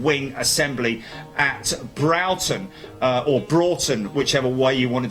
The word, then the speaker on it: Broughton: understand if if you're Brighton Richard Hughes it's pronounced Broughton I've always brausen boomed four in a row